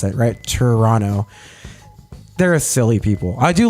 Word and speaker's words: Toronto: n o as kind of the way to pronounce it right Toronto they're silly people I do love Canada but